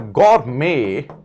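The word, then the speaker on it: gourmet: there is a word गर मेे T silent रहता है इसमें look at the word the word इ गोरमे गौर में टी साइलेंट है इसमें टी क्या है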